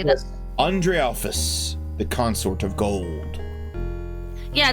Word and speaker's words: Andrealphus: Andrealphus, the consort of gold.